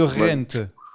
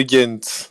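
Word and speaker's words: Gent: On dit de Ghent ou de Rent ? On dit de Ghent.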